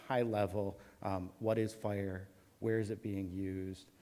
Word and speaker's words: FHIR: information from hl7 uh it it is um fire it's not version four um but some people